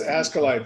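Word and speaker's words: ASCILITE: He has gotten the awards that everyone else wants to aspire to get, and including one from Ascalite. Is that pronouncing that right, Tom? Yes, Ascalite, the Australasian Society for the Improvement of, what is it?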